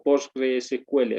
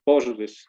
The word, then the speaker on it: PostgreSQL: Bien, entonces así es como de manera inicial se va trabajando en postgres posq o postgre SQL, así también se pronuncia, no hay ningún problema, ¿no? Pero posgrés por su nombre antigüito, posgrés, ¿no?